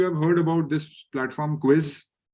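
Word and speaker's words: Quizizz: How many of you have heard about this platform Quiz? Quizzes is the right pronunciation.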